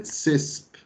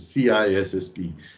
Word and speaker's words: CISSP: For those of you that have difficult times pronouncing it right and call it CISP, bear in mind that in my ears, it's painful to hear the word CISP and not the right one, which is CISSP.